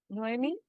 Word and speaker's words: Noemi: Wanted to add my reflections on what Noemi, is that right? Am I pronouncing it right?